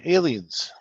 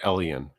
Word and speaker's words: Elian: uh just me but I pronounce it Elian oh okay okay I'm so used to my last name being pronounced alien so that's why I said that really yeah but my last name begins with an E not an A so anybody uh in